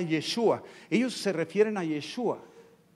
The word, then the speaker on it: Yeshua: ellos se refieren a yeshua así lo pronuncian ellos en hebreo yeshua no yeshua sino yeshua y